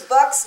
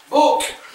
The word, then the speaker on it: Buck: Uncle Luke inadvertently pronounces Buck's name with the long O vowel. You must be Book. It's Buck. Uck. Rhymes with Buck.